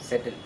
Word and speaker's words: settle: செட்டில் நீங்கள் first சிலபில் stress கொடுத்தாவே இது ஆட்டோமேட்டிக்காக அந்த இது சரியானபடியாக வந்துடும். இந்த வார்த்தை எல்லாமே you have to give stress on the first syllable.